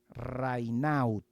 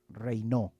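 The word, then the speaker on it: Raynaud: Serge Reinó, el famoso autor Serge, Serge Reinaut, que se pronuncia Reinó, francés.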